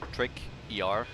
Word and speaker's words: Tricker: He's spelled like basically like you say the word, like trick, ER, Tricker.